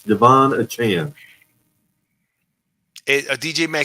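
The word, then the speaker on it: Achane: saquan and desan or is how do you pronounce his name aanan achan aanan it's Devon it's Devon achan DJ ma said once moster is back it'll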